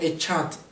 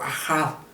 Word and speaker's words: Echad: En inglés lo pronuncian como Echad, algunos, o Ahad. Yo lo conozco más por la fonética de Echad.